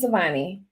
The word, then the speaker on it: Souvanny: And so uh we wanted to introduce you to Katie uh I think that it's pronounced uh Suani. Is that correct? Yes. Savani.